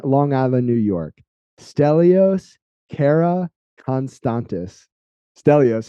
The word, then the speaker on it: Karakonstantis: special guest in Long Island New York stellios Cara constantes stellos how are you man I'm good thank you for having me perfect pronunciation by the way of course I was